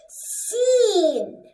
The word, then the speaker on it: س: Well, this hissing snake becomes seen.